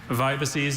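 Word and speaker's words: vibices: Vibaces is a plural noun from Latin. It means linear subcutaneous extravasations of blood. Vibaces. Vibaces. Vibaces. Vibaces. Could I get, are there any alternate pronunciations? No, just vibaces.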